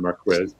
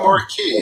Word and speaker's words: Marquis: pronounced that way don marquez it's not more key huh all right okay